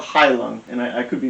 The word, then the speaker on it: Heilung: They're called Heilung, and I could be mispronouncing that, but it's Heilung.